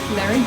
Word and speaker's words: Larry: Larry? Yeah. Oh. But the pronunciation is just Larry. Larry. That's all. Arr. What the Yes. arr? Roll the R.